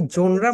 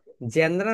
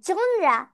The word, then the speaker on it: genre: তো এটার উচ্চারণ আমরা সবাই বলি জেনরা না কি যেন বলে সবাই, কিন্তু রাইট প্রোনাউন্সিয়েশন হবে জোনরা। যা যা যা যা যা জোনরা। Ja, ja, ja, ja, ja, genre.